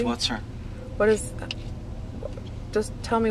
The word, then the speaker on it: Whatser: and so it's whater is that did I pronounce the name correctly it's whater what is just tell me more about that